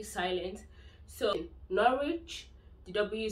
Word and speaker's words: Norwich: have the likes of norwich when you have a w at the beginning of the last level where you're pronouncing https you don't actually pronounce it w it's silent the w silence so norwich dw silent in cervic